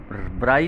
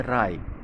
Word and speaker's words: wry: Both राय, ये WRY है, ब्राई नहीं पढ़ेंगे इसे, राय, ध्यान दें इस पर, प्रोनाउंसिएशन पे।